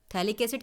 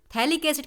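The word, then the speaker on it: phthalic acid: रहा है तो थैली थैलिक्स इड के साथ थैला माइड मिलेगा य इसका जो स्पैलिंग है वो p से स्टार्ट हो रही है पर पी इज साइलेंट हियर तो थैलिक्स इड के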